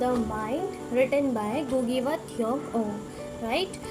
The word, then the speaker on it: Ngugi: गुगी व थ्योंग, गुगी की जो प्रोनाउंसिएशन है वो गुगी रहेगी, बट the word the name will be NGUGI, right. तो आप इसको गुगी प्रोनाउंस करेंगे।